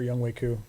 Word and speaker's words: Younghoe Koo: Yeah, he's got a man crush on Younghoe Koo, or Youngwei Koo. That's how you say it.